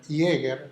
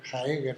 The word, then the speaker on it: Jaeger: él y otros, y podemos leer Jäger, Werner Jäger, Jaeger se escribe, etcétera, y otros, donde se habla cómo